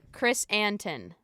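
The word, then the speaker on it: Krrsantan: down phonetically chrysanthemum. because it's idiotic. His name is Chris Chris. An- Chrysantan. Chris Anton.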